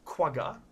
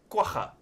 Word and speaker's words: quagga: they're extinct obviously but this is not quagga or kuwaga have i as i have seen americans and brits pronounce it this is a kwaja pretty much a source